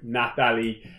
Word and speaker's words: Nathalie: So for the first time, Nathalie.